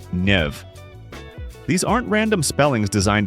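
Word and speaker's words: Niamh: Take the name Siobhan, which is pronounced Shiva or Nia, pronounced Nev.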